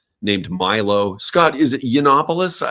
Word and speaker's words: Yiannopoulos: Scott, is it Yiannopoulos? How do you say his last name? Yiannopoulos.